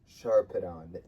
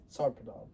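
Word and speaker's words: Sarpedon: His strong fate was driving him now against Sharpon. Sarpidon.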